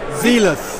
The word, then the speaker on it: Zelos: Zelos. Zelos. Yes. Has a line over the E's, a hard E, so okay, Zelos.